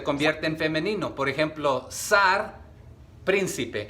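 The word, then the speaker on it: שַׂר: se escribe primero con con t sar t s a r Qué significa a veces se pronuncia sar sar con t con k con s con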